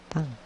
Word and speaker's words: petang: The correct pronunciation, petang. It sounds like egg.